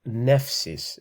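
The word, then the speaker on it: νεῦσις: is called the diphthong and that's basically the pronunciation of the word nephsis it's also the same like for example if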